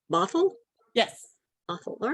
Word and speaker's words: Bothell: education at the university of washington is that pronounced bothell yes awful all right i got it right